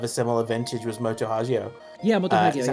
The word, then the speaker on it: Hagio: similar vintage was Moto Hagio. Yeah, Moto Hagio. Is it yeah. Hagio or Hagio? Hagio. Hagio. I don't know why my instinct is to always pronounce it like it's Italian.